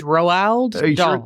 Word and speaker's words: Roald: It's like Ronald without an N. It's Roald.